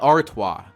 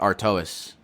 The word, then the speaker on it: Artois: pronounce it Stella ardois phonetic pronun pronun pronunciation um artoa what the okay it's Stella artoa this looks if you read it literally it's Stella Artois I'm calling it Artois why would you name